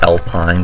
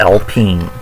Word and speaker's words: Alpine: I know you could pronounce it like Alpine, but if you actually know what you're talking about, it's Alpine.